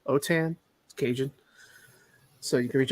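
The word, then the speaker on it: Autin: my name is last name is spelled a-u-t-i-n otan occasion so you can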